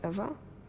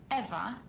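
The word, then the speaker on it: Ewa: to a lifeless machine besides Eva is spelled e w a not e v e I thought we agreed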